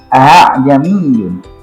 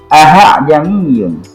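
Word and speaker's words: أَعْجَمِيٌّ: A'jamiyun, a'jamiyun, a'jamiyun, cepat. Saya dulu masih kecil bacanya a'jamiyun, sehingga ini hamzah yang kedua ini difungsikan sebagai alif. Ternyata itu salah. A'jamiyun. Tapi yang benar a'jamiyun.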